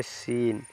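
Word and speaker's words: scene: पढ़ेंगे यहां पर देखिए इसमें सी साइलेंट हो जाता है इसको पढ़ेंगे सीन सीन माने दृश्य नेक्स्ट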